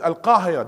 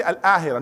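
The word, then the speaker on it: القاهرة: But I couldn't understand why Egyptian, they said everything's, every qaf, you go except Al-Qahira. They didn't say Al-Ahira.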